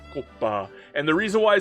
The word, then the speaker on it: Kouppas: Before we begin, I'd like to actually announce to people that this is not pronounced Koopa. It's pronounced Kopa.